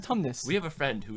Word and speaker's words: Tumnus: No, it's pronounced Tumnus.